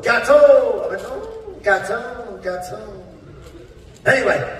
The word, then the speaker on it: gâteau: In France, we do not say gattox. In France, the X is silent. We say, gâteau. I went, gâteau.